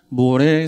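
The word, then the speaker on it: מורה: 그런데 12장 6절의 말씀을 보면 가나안 땅의 관문이라 할 수 있는 세겜 땅 모래 상수리 나무 아래에 이르렀다고 말씀하고 있습니다. 여기서 모래라는 말은 그냥 히브리어예요. 발음도 모래입니다. 히브리어로.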